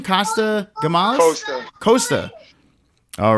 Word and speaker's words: Costa: Costa. All right. Now, yeah, Costa, just like Costa Rica.